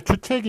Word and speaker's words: 주책: 자, 다음에 이제 주책이 있고 주착이 있는데요. 여기 한자로 보면 주착이 원래 맞네요. 그렇지만 요거 주책 이렇게 쓰는 것이 주책이라고 그렇게 발음이 바뀌었으니까 주책이라고 쓰는 게 맞겠습니다.